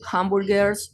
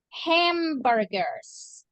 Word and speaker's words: hamburgers: Hamburgers. Hamburgers. It's like this, like if you are smiling, like hamburgers.